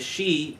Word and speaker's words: Sidhe: pronounced she, yeah.